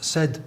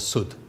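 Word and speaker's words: سدا: The word sud is a barrier, and it could be pronounced as said or sud, and they're dictionary-wise exactly the same.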